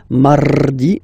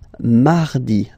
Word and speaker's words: mardi: You don't move your tongue, so it doesn't sound like mardi, no. It's really soft, mardi, mardi, mardi, okay?